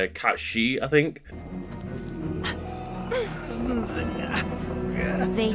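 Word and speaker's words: Cait Sith: know the actual pronunciation but in gay that's pronounced something like Kat shei I think they say curiosity killed the cat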